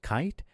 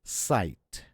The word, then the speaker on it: cite: For example, CITE is not kite, it's sight.